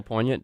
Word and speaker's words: poignant: been working on that one sounded good good pronunciation can you spell poignant davis p o i g n a n